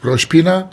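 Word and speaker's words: Rosh Pinah: you said you're driving off to uh rashbina roshpina you've actually memorized the name and you're pronouncing it correctly so you've done a bit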